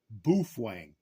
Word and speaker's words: Baofeng: the the company and they said that's the way that's pronounced is bof Wang so don't put comments